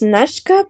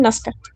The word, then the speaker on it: Nazca: En realidad es Nashka, pero casi nadie me llama así. Me llaman Nazca.